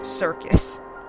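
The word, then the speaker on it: Syrcus: Circus Tower. And it's spelled S-Y-R-C-U-S. Circus. That's what I'm calling it.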